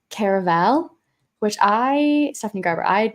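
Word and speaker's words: Caraval: is so good that's book three in the car of all series although I did hear her say on her Instagram recently she pronounced it like Caravel which I Stephanie Garber I'd never heard anyone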